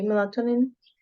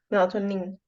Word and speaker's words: melatonin: So emphasis in the nin. Okay. Melatonin. Melatonin.